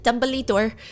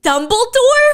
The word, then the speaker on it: Dumbledore: and my sister goes what the she goes Dumbly Door and we said Dumbledore from Harry Potter and she's like no